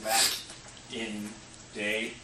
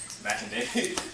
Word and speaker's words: Makinde: My name is Mack and that's Mac in day. Mac and day. Uh, just so you know how to pronounce it.